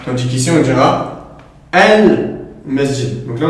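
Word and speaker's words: المسجد: Tandis qu'ici on dira al-masjid. Donc là, on entend clairement le lem.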